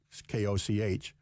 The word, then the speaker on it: Koch: Mark the Koch brothers Koch uh Koch is how it's spelled Coke is how it's pronounced have set up a